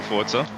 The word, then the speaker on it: Forza: sure how to pronounce I've heard that you're supposed to say Forza because it's Italian. But every now and then you might hear me say Forza because that's how I'm used to saying it because I'm South